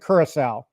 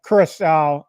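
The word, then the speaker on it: Curaçao: Haven't finished it, but I will say that blue I pronounce it curacao. I know you struggled with the pronunciation of it, but curacao, I believe, because when I got married in like 1999, we got married in St.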